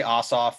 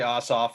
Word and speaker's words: Ossoff: i just i say ossoff uh he's jewish allegedly that matters but um i say ossoff certainly warnock is correct and it's lefler i believe